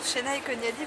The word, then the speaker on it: Senay Konyali: Il faut aller, alors j'ai envie de dire, il suffit d'aller sur Chénaï Koniali BGE Loiret. Mais alors Chénaï Koniali, ça ne s'écrit pas comme ça se prononce.